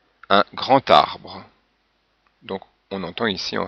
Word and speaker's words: grand arbre: Alors remarquez que quelquefois dans ces liaisons, le son de la consonne change un peu, comme ici le D en position finale se prononce comme un T, un grand arbre.